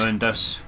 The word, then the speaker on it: Mundus: How is it pronounced? Is it Mundus or is it Mundus? Mundus.